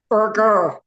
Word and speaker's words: Burger: Um, the correct pronunciation of your last name is Burgger. Burger. Just just like hamburger.